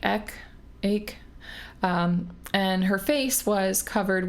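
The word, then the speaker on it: Aïk: school, her name was, it's spelled like A-I-K. There's like an accent mark on the I, but I think it's supposed to sound like Ek.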